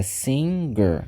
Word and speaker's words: singer: d Traz essa mudança mas aqui como eu tenho um n antes é Singer Singer então aqui eu já Puxo a pronúncia pro som G do G que é o cantor